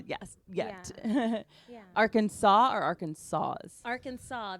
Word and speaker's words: Arkansas: Arkansas or Arkansas Arkansas the S is confusing spelled like R Kansas us to yeah like our pirate R Kanas Kansas yeah it's spelled it's spelled like that um but it's a but it's not it's not said that way at all so did you go